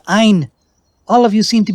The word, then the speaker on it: Ein: she can still see it is not pronounced ain it is ein all of you seem